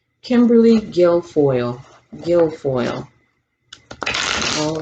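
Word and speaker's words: Guilfoyle: them out thank you let's talk about kimberly girlfoil how do you say her name kimberly gilfoyle gilfoyle all right show his kimberly guild foil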